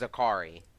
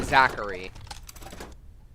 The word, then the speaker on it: Zakari: see that and yes it's pronounced zakari okay why was that weird or something because people are always calling me Zachary foreign what kind of